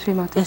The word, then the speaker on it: Shri Mataji: Est-ce la prononciation correcte, Shri Mataji ?